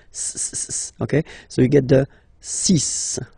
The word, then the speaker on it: six: so you get the sis pronunciation sis okay so it's not six it's sis all right then here